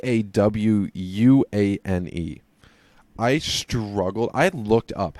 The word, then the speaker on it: DaWuane: So Bud Dupree there to match up with Dwayne Smoot. Josh, if you saw how Dwayne was spelled, how would you think to pronounce that?